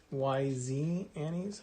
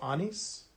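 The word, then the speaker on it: Anyz: This consists of pieces from these Annie's products, A-N-Y-Z, Annie's, I think I pronounced that right. I think it's German, so Annie's maybe.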